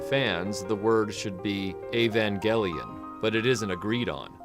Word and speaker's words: Evangelion: You may have noticed I've been pronouncing Evangelion with a hard E at the front, but I'm using a hard G in the middle despite the word angel being the central word of the title.